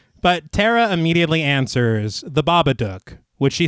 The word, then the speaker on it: Babadook: you guys see the babadook yeah I know it has to rhyme with book yeah that's kind of